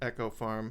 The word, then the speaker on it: Eco Farm: the farm which was it's spelled Eco Farm but they pronounce it Echo Farm MH and Echo Farm